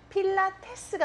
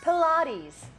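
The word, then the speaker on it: Pilates: 강세가 두 번째 음절에 있고. 필라테스가 아니라 플라티즈였죠?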